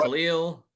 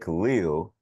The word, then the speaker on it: Kel'el: Am I pronouncing that correctly, by the way? Because I've been told both ways, Eternal. It's, Khalil. it's so funny that you say that because when Pat introduced him, he said Khalil.